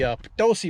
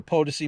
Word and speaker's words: Potosi: we're up here in the potosi mountains or the POTUS II Mountains depending on your pronunciation and we're at the